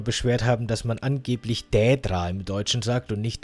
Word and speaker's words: Daedra: Das ist so ein bisschen schwierig. Es ist kein Ä und auch kein AE. Es soll so ein Daedra sein. Das, finde ich, ist die richtige Betonung von Daedra, Daedra.